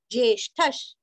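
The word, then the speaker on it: ज्येष्ठः: प्राणो ज्येष्ठ ज्येष्ठ नहीं करना सिर्फ ज आधा ये जे ष्ठ का उच्चारण भी अच्छे से करके विसर्ग का उच्चारण आधा श करना है। ज्येष्ठश ज्येष्ठश श्रेष्ठ श्रेष्ठ।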